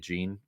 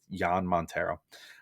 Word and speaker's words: Jan Montero: keels and jan montero i apologize i think i was pronouncing it gene it's jan montero uh both definitely need